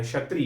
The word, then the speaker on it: क्षत्रिय: क्षत्रिय इसमें क भी लगा हुआ है। ठीक है? क का भी प्रोनाउंस करना है।